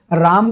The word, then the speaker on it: राम: और सोफिस्टिकेटेड, हाँ कहीं रामा, जबकि what is the real pronunciation, it इज राम Krishna. South वाले बहुत बढ़िया बोलते हैं म ना कि मां, कृष्ण।